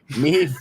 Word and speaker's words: Maeve: Maeve rhymes with Dave is here.